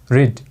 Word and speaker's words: read: सबभन्दा पहिला हेर्नुस् रिड, रिड भनेको B1 पढ्नु, र त्यसको B2 के छ READ नै छ। तर B2 को रूपमा यो प्रयोग हुँदाखेरि यसको प्रोनाउन्सिएसन, यसको उच्चारण रिड नभएर रेड हुन्छ, जसको नेपालीमा अर्थ पढ्यो भन्ने हुन्छ।